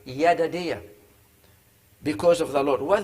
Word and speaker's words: Jedidiah: name what is not jedidiah the j in hebrew is pronounced why yada dia because of the lord